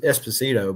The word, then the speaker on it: Esposito: How you say it is Esposito, but what's it?